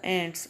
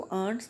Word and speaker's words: ants: द एंट्स, आप इसको आंट्स नहीं पढ़ेंगे क्योंकि आंट is something different. आंट तो खाला या पुप्पो को कहते हैं. एंट्स की स्पेलिंग भी डिफरेंट होते हैं और इसकी प्रोनाउंसिएशन भी एंट्स डिफरेंट होती है आंट से.